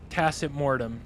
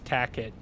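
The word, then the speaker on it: Tacet Mortem: It's tacitmortem. It's Latin for silent death. Yeah. But I have friends who know my name, like know how to say it right, and still address me as Tacket to with me.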